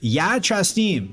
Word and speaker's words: ja častim: It's ja častim, okay?